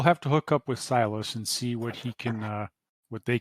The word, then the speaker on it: Silas: So the name of the contact just comes across as Silas. But not actually silence, like ... No, Silas. Silas.